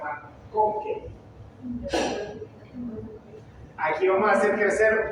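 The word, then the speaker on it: MacConkey: Así como McDonald's, pero McConkey.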